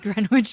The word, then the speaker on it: Greenwich: Greenwich Village grenwich Village it probably is grenwich it is Greenwich Village as you say that out loud and I hear it it is properly pronounced greenwitch Village so anyway there were a couple of reps wi doesn't sound right um even though that